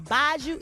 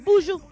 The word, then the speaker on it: Buju: Is it Buju or Baju? It's Buju?